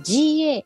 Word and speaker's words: GAFAM: 読み方は GAFAM と言います。